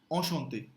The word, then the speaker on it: enchanté: Enchante. Yeah, it's inevitable to pronounce some n because it is immediately followed by a consonant, right? But try to say enchanté.